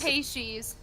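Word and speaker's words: Peixes: her name Pisces aexis how do you say it last Paces Paces Paces someone got a Brazilian friend and everything to confirm it yeah okay uh really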